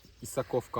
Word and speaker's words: Исаковка: Біз қазір Исаковка ауылына келдік. Ударение дұрыс, оға түседі.